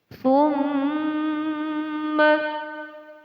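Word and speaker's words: ثُمَّ: Tsumma, mim di sini dinamakan hukum bacaan gunnah. Cara membacanya ditahan kira-kira selama 2 ketukan.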